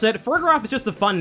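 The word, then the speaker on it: Farigiraf: Anyway, when I saw the evolution's name, I assumed the G in the middle would be a soft G like in Giraffe, or the start of Girafferig, for a giraffe. But according to all the material I've seen, this Pokemon's official pronunciation is Ferrigiraffe, with a hard G sound.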